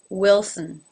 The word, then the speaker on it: Wilson: Now again, the first syllable here ends with an L. So we start with a wi, but then we have to go into a before we close it off to the ul. Wilson. And the unaccented syllable, sin, again, almost without a vowel.